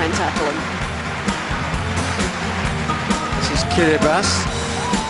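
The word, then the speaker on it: Kiribati: Tackle him this is kiribas looks like kirati but a t followed by an i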